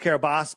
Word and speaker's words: Kiribati: So I'll do the quick run through on Kiribati for those, and it's pronounced Kiribati, but I say Kiribati because that's how it was spelled.